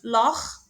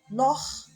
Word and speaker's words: Loch: Et le deuxième exemple, Loch, c'est après le O, c'est-à-dire après le O, on le prononce. CH, on le prononce Kha.